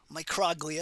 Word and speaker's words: microglia: are microglia as well microglia is really how you pronounce it they're small so they're micro glia they are phagocytes they're